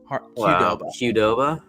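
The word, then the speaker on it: Qdoba: and they said, "Yeah, it's a hard Q hardova."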